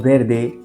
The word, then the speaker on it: verde: For example, in the word verde, you say it like an English R sound.